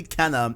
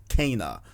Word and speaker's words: Kena: atreyus atreus back home videos but uh apparently canon is not how you pronounce it it is pronounced cana so i'm gonna try and guys guys call